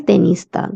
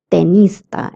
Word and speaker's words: tenista: The T sound is always the in Spanish and not the. That's why we say tenista and not tenista.